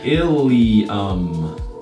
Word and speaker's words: ilium: It's called the ilium. Kind of rhymes with a student in our class. William.